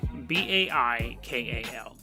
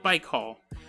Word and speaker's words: Baikal: gonna Russia this is Lake Baikal Bai KL Lake Baikal is on the conspiracy